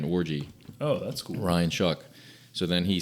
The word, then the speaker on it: Shuck: Does he spell it like show? No, he spells it SHUCK. Yeah, Like you shuck an oyster.